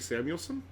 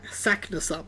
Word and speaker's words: Saknussemm: And Arnie Samuelson, right? Saknussemm. That's how you say it.